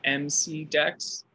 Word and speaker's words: MCDEX: Is that the one that's spelled MC Dex? Oh yeah, yeah, MC okay. Dex. Okay, but it's pronounced McDex, like McDonald's. Like, yeah, kind okay.